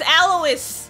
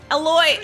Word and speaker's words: Alois: It's Alois. Aloy. I don't know how to say it. I think it's Alois.